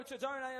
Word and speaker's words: Tedone: Mario Tedone, of course, will be your centre referee, if you want to be accurate to the pronunciation.